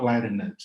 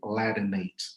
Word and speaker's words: Latinate: And by the way, the suffix is pronounced ate, like cognate. Yeah, it's not Latinate, it's really Latinate words.